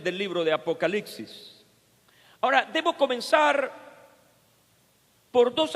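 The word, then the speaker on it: ἀποκάλυψις: griega para revelación es apocalipsis se pronuncia igual pero se escribe de manera diferente y como suele suceder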